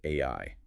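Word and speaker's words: 愛: The Japanese concept of love is pronounced AI. Which is incredibly wild just on a phonetic level. The English letters AI, which stand for artificial intelligence, sound exactly like the Japanese word for love.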